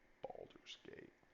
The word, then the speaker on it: Baldur's Gate: be playing that one Baldur's Gate emphasis on the first uh balls yeah like testicles I was killing a